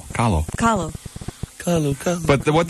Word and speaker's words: Kahlo: K-A-H-L-O. And it says it rhymes with follow. Kahlo.